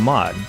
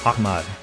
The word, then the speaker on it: Ahmad: traded for him anyway bud didn't call him Ahad he called him ammad using the traditional pronunciation of the name it was heing